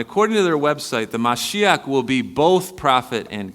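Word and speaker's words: משיח: the Messiah to come they call it the mashiach that's how they pronounce it and I preached on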